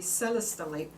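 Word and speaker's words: celestite: it very well protected people often get the seller style which is spelt like celestial like the sky i always think of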